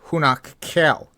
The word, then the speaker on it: Hunac Ceel: Number eight is Hunac Ceel, sometimes pronounced Hunak Keel.